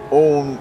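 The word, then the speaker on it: Eoin: Yeah, it's like own in English is spelled like E-O-I-N, and then in Irish it's E-O-G-H-A-N.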